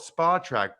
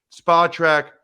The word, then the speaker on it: Spotrac: starting out you know I always call it Spa track but for some reason I thought in my head I'm wrong it's spell track he told me last time it's spelled track so spot Track Mike 15 years is